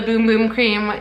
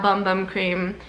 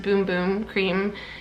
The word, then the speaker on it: Bum Bum Cream: It's not Bum Bum Cream. It's on the packaging. I have DM'd them. It's pronounced Boom Boom Cream in Portuguese because Sol de Janeiro is a Brazilian brand.